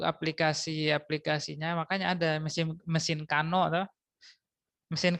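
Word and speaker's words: Carnot: tapi Kalian Dengar pasti mesin carn Iya toah penyebutannya salah seperti itu mesin harusnya cara bacanya kalau cara tulisannyaang sudah benar kan untuk aplikasi hukum pertama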